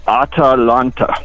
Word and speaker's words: Atalanta: It's almost like spelled like Atlanta. Okay, what's the name of it? The ship again? It's Atalanta. Chewbacca? No, it's like Atlanta with an extra A.